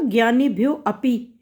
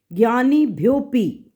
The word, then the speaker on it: ज्ञानीभ्योऽपि: जहाँ आपने बोला ज्ञानीभ्यो अपि, हमने इसको अ को साइलेंट रखना है पढ़ते हुए, ज्ञानीभ्योपि, ठीक है, भ्योपि, हाँ बिल्कुल ठीक बोला, बिल्कुल सही, बहुत अच्छा।